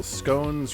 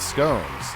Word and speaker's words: scones: me that educated Circle scones rhymes with bones like scans thanks madh Hatter big round of applause for the Mad Hatter everybody not scones like we've been saying